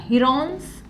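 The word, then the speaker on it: Heron's: by using हिरो formula हिरो नाही बर का हिरॉन्स फॉर्म्युला हिरो सारखंच वाटतं त्याचा स्पेलिंग सो काय आहे तुमचा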